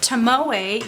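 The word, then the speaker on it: Tomoe: bought a ring of tamoo yes that is the right way to say it I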